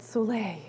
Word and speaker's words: soleil: Okay, Tammy, Jerry, yes, soleil water. So this is, and it's S-O-L-E, but you pronounce it soleil, like the sun, I guess, okay?